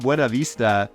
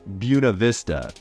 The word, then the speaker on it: Buena Vista: It's not Buena Vista, it's Buena Vista.